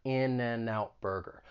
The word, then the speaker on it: In-N-Out Burger: it even though you you say it like it's spelled in and out burger but it's a great example of linking because people will typically say this quickly in and out burger so that final consonant sound is going to get